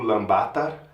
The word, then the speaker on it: Ulaanbaatar: Então, eu estou agora na capital da Mongólia, o Lbatar, eh, que se pronuncia o Lambatar, eh, que significa o